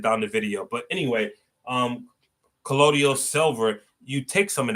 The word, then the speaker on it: colloidal: When it comes to silver, there's something called collado. I think I'm saying it right. Collado silver. Colloidal silver. That's how you say it, colloidal.